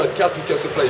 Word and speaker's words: K2K SoFly: Donc ça se prononce bien K2K SoFly et pas K2K.